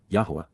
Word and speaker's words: Yahowah: apart from, min, except, Yahowah, Yahowah, the proper pronunciation of the name of Eloah, God as directed in his Torah, teaching regarding his Haya, existence and our Shalom, restoration.